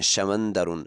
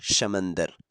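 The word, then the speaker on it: شمندر: इसे samanderun कहते हैं samanderun आप इसे तनवीर को हटाकर सेकंड में पढ़ सकते हैं समंदर नेक्स्ट वर्ल्ड हमारे पास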